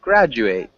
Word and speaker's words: graduate: hey graduate graduate yeah graduate so it's kind of like a j sound instead of that hard d okay graduate good graduate